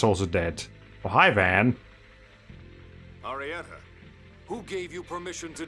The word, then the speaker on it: Arietta: How they pronounce her name in Japanese. Arietta. Yeah, they probably hold the T a little bit.